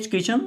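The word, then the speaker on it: kitchen: इसमें T silent होता है तो टी को हम नहीं पढ़ते, तो बन जाता है की चन।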